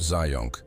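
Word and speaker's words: Zajonc: The exposure effect also called the mere exposure effect is a concept in psychology first studied by Robert Zion rhymes with science which is fun but irrelevant.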